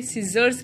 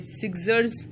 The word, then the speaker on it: scissors: S C I double S O R S, scissors है, हम इसे सीजर्स कहते हैं, सिग्जर्स नहीं कहते, सी साइलेंट हो जाता है.